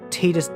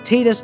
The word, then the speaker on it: Tidus: Final Fantasy X, Tidus Disappears. Yes, it's pronounced Tidus, not Tidus, look it up. Okay, so usually I'd only do